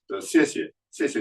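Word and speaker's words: 谢谢: The Chinese Pinyin uses an X for an S sound. It's like, why? So when you say thank you in Mandarin, 谢谢你, they spell it phonetically in the language book as X-I-E, X-I-E.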